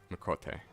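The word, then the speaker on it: Miqo'te: Mikote. Pronouncing, or like, adding glottal stops is so hard.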